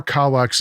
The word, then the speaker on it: Kallax: The Kallax storage cubes, Kallax. By the way, I got my pronunciation from Google Translate.